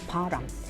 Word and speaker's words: 바람: However, in Korean, air movement and secret relationship with other person are pronounced the same as param.